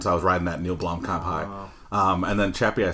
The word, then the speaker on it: Neil Blomkamp: I just bought like a Neil Blomkamp. Did I pronounce that correct?